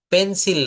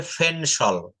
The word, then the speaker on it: pencil: যেমন Oh, পেন্সিল না, এটা উচ্চারণ হবে ফেনসল।